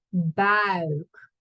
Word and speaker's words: buik: De buik. Make sure you say ui, not au. Ui. De buik.